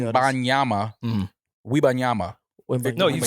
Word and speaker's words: Wembanyama: That was an accurate Victor pronunciation. Wembanyama.